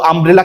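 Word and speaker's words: umbrella: কিন্তু আমব্রেলা থেকে ইউব্রেলা বলছি আমি, বা আমরা বলতে পারবো দেখো আমব্রেলা কি ইউব্রেলা না, আমব্রেলা কিন্তু আমব্রেলা, পুরো ইউকে প্রোনাউন্স করতে পারেনি, তার মানে এই জায়গাতে ভাওয়েল হওয়ার কারণে এন হবে।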